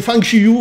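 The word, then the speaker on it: 方世玉: Ouais, et on dit Fang Shiyu en mandarin.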